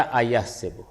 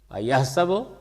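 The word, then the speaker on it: أيحسب: نے اس کو پڑھا ایحسب، ایحسب یا ایحسب، یعنی سین پہ زبر یا زیر، اس سے معنی میں کوئی فرق نہیں۔ آپ کہہ سکتے ہیں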